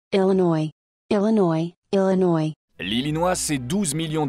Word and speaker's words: Illinois: Attention, ça c'est avec l'accent français parce qu'en américain, il faudrait dire How to pronounce Illinois. Illinois, Illinois.